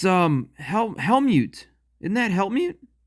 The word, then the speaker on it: Helmut Strasser: wolf set up a new it's um hel hel mute isn't that hel mute Helmut straser that's right it's Helmut straser he's one of